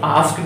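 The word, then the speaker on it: asked: तो आस्क जब पढ़ेंगे, आस्क फिर ई करेंगे साइलेंट, और ड से डमरू, ठीक है, डा से डमरू बना।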